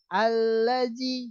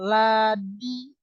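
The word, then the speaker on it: الذي: Allazi, jangan ladi. Harus ada a di depannya, itu dibaca dimuat. Allazi.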